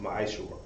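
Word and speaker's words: ma'aser: Malachi 3:8-10 means tenth in the Hebrew, pronounced ma'ashor.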